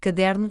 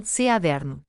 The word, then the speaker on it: caderno: Graves acentuadas na penúltima sílaba, ex, caderno, caderno.